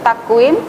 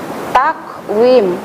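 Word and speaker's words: تقويم: Cara membacanya yaitu tipis. Jadi cara membaca yang betul takwim, takwim.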